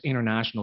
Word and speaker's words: international: it's international okay so the t you can change it to just like silent okay international support to